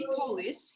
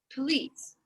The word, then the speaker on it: police: You don't say police, you say police.